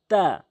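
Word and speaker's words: ت: মনে রাখবেন কথাটি আমি কি বলছি, জিহ্বার আগাটা নিয়ে উপরের সামনে ২টি দাঁতের গোড়াতে লাগাবেন জিহ্বার আগাটি, তাহলে তা শুদ্ধ উচ্চারণ হবে।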